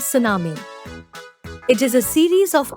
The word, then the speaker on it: tsunami: Tsunami, it is pronounced as tsunami.